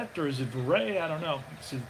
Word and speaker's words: Verrett: This guy's name, the way they pronounce his name is Logan Verrett.